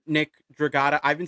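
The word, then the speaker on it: Dragotta: This is one where I'm like, this is one that you just said, Nick Draata. I've been saying Nick Draota, so I guess I've been saying it wrong this whole damn time.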